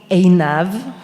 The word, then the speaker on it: Einav: So my name is Einav. This is the right pronunciation, but if it's hard, remember it sounds a bit like enough, so you can call me.